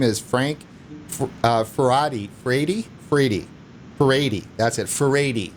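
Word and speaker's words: Furedi: Faradi. That's how you pronounce it.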